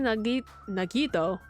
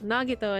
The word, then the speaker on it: Nagito: Uh Akane, Nag Nagito. Oh my god. What? What am I? Why did I say his name like that? Nagito, and Ibuki.